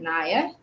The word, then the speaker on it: Nia: I'm gonna say Nia because it's spelled Nia, Nia, but I pronounce it Nia.